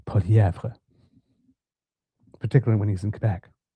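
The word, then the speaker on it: Poilievre: career as a politician, balked at his name being pronounced in French, Poilièvre, who now definitely uses Poilièvre, particularly when he's in Quebec.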